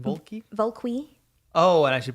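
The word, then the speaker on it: Vulqui: in the chat I'm I'm called bulky so I know they throw you pronounced it as but yeah okay don't worry about it yeah yeah v-u-l-q-u-i and I should say it's because it's spoken in Spanish got it you got it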